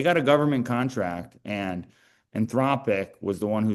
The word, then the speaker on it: Anthropic: Yeah, I don't know much about, how do you say anthropotic? Anthropic.